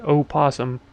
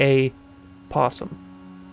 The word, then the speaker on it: opossum: opossum for sure and I didn't pronounce it Oh possum I pronounce a a possum like a singular possum right most mammals have